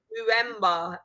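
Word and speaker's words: Mbeumo: Mwemba. There you go, Malake. Mwemba.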